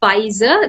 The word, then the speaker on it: Pfizer: It's Pfizer. The P is silent. There are a lot of pronunciations, but it's Pfizer.